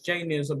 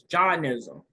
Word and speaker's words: Jainism: I refer to it as Jainism, but it's Jainism. So in essence, just touching bases on Jainism, it mentions that by way of karma, it's the root of birth and death.